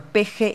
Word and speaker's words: Peje: Allí Peje se pronuncia como Peje y alude precisamente a esa pronunciación aspirada.